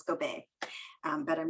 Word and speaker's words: Gobeil: uh francisco bay or montico bay so it's go bay um but i'm not marianne okay that's it